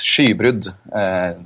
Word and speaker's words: Skybrud: Am I pronouncing that right? Skybrud, is it maybe? No, it's Skybrud, to be correct.